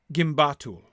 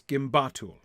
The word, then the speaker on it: gimbatul: Yeah, Tony says that the sound of the vowels also helps to show where the stress lies. Yes. It is 3 syllables instead of the 4 syllables in Durbatuluk.